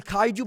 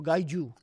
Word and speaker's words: kaiju: I mean, it's not spelled with a G, but it's actually kaiju. But if you ask them, they'll go gaiju.